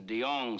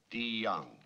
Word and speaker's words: Deong: The name is Deong, sir. It's pronounced with a D. Deong.